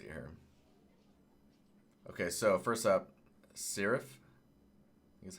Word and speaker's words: Şeref: um let's see here okay so first up serif is how you say it from Istanbul freaking